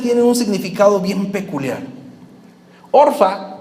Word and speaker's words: Orfa: Orfa o Zorpa, como se pronuncia en el original, significa testaruda.